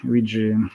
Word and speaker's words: Weje: So how should I pronounce Vijay? Vijay, is it? Vijay.